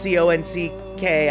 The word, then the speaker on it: conch: I'm assuming when you say conch, isn't that what we normally spell C-O-N-C-H? But it's pronounced C-O-N-C-K.